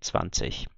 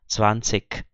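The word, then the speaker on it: zwanzig: Existe também o IG no final de palavra pronunciado com som de K, então as pessoas falariam 20.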